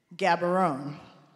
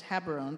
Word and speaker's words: Gaborone: And I say, mispronouncing it, "Gaborone." He said, "Close. It's Gabarone, but okay.